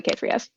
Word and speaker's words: K3s: Either just pronounced out loud Kubernetes. Occasionally people will say Kates. Kates, nice. And K3S? Literally K3S.